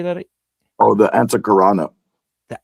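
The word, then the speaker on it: Antahkarana: Oh, the Antakarana. The Antakarana, that's right.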